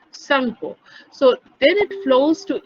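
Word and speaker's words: Tsangpo: টিটা উচ্চারণ হবে না, সাংপো।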